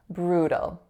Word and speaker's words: brutal: Anyhow, It's not brew, in which I know I rolled my R because I can't combine them otherwise. It's brew, brew. The next syllable has an alveolar flap, a schwa, and a dark L.